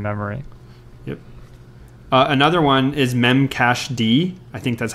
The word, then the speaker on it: memcached: yep another one is memcache d I think that's how you say it or do you just say memcached I personally memcached really lot of people say memcache d but okay it could